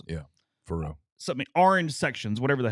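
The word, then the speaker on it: Faurot: What's their Faro field? What's their field name? Starts with an F. At Missouri? Yeah. Faro or something like that. Faro.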